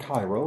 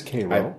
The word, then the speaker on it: Cairo: It's not Cairo, it's Cairo.